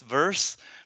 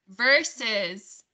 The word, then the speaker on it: versus: very fast so it became verse students may pronounce verse v-e-r-s-e instead of verses or verses yes okay thank you yes versus yeah let's all try that together versus verses yes my apologies yes there's verse and